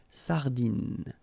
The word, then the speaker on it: sardine: So, le merlan, la raie, final E, not pronounced, la sardine, you don't insist on the final E, it only gives you the N pronunciation, sardine, l'aigle fin, la limande